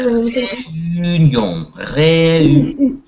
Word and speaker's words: réunion: Réunion. Réunion. Повторите, пожалуйста, Люба. Réunion. Réunion. Réunion. Réunion. Да, то есть как бы эю. Сделайте такой вот эю вместе.